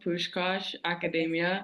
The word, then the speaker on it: Puskás Akadémia: uh your team name in in case I pronounced that wrong yeah so it's called push Kosh Academia so you literally said it right okay um